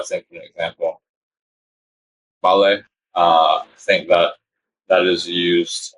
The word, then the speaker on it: vale: They use Vale, and I want to say it's Vale. Is the spelling, and the pronunciation is like the V turns to a B.